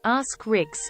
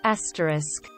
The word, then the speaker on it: asterisk: Rage my co-worker keeps saying ask Ricks instead of asterisk it drives me insane